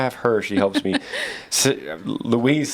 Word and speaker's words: Luis: does it look like louise luis it's louise right louise louise like with a z yeah louise because like